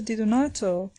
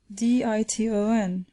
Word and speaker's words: Di Donato: and had begun thus, Diton, Diton. The professor at once pronounced the word more distinctly, Di-do-nato, whereupon the child, without